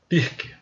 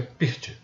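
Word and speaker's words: Pirc: Roque inverteu para uma pirk que na verdade se pronuncia pirt é no Brasil todo mundo fala pirk Roque grande C6 F3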